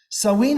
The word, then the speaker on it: Samhain: the already practiced Samhain, written Samhain, but pronounced Samhain. I'm informed, I don't speak Irish, so I don't really know.